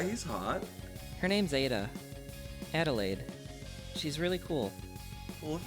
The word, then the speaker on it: Adelaide: It's Adelaide. Come on, come with. Adelaide? Adelaide? That's a lot of syllables. It tastes good in your mouth, though. Adelaide. Adelaide. It's the same syllables as lemonade.